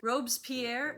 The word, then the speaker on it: Robespierre: Sierra and Jay Zhao was also there, and they were dressed as Robespierre is how it's spelled, but I don't know.